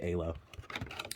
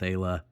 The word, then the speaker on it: Isla: It's spelled Isla, but I think they say Ayla.